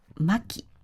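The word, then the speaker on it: 薪: Tên của cô gái là maki (Cao-Thấp), trong khi củi là Maki (Thấp-Cao). maki(Cao-Thấp), Maki(Thấp-Cao), yuri(Cao-Thấp), Yuri(Thấp-Cao) Bạn có nghe thấy sự khác biệt không?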